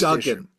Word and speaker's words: Duggan: The Invincible Iron Man, number 16 from Marvel, written by Jerry Duggan, art by Chris Lee. The end of the last it's Duggan.